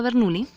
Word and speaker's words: Bernoulli: Bajo el modelo de Bernoulli, o Bernoulli, se escribe Bernoulli, pero se pronuncia Bernoulli.